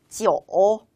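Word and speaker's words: 九: 주시면 될꺼 같아요 짜 숫자 9는 이렇게 읽습니다 지옥 지 어 어 어 어 라고 읽으시면 되겠습니다 역시나 성조가 삼성 이니까 덕을 살짝 내렸다 올리시는 게 좋겠죠 다시 한번 읽어볼까요 지역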